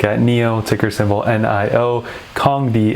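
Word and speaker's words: Kandi: neo ticker symbol nioh kong d as i know now that it's pronounced ticker symbol knzi and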